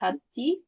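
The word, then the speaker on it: 같이: hati, kaci. Nanti bacanya itu kaci, Oh, kaci. kaci. Tapi penulisannya nanti tetap seperti ini ya.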